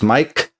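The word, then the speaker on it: Maic: And yes, my name is spelled M A I C. Sounds Mike.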